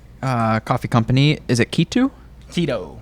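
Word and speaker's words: Kitu: Keto. Keto, but so it's spelled K-I-T-U. Oh, okay. Oh, K-I-T-U. K-I-T-U. Oh, Keto, I guess, yeah.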